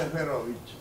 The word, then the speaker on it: Ejberowicz: Esperovich, sí. La J polaca se pronuncia ahí y la CZ final CH.